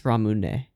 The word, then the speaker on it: Ramune: It's not Ramun, is it? It's Ramune. Ramune. This is the hiragana for... Yeah, for ne. Okay, so it's 3 syllables.